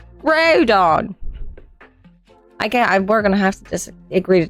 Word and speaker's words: Groudon: No, because they just take out the N. But he's from the ground. So Groudon. Just take out the N. Groudon.